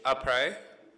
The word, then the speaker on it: après: There is a YouTube video that does a great job, but it's après, and it means after in French.